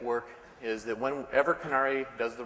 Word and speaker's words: Conary: for packaging and we I've heard a lot of pronunciations we call it canari I want to talk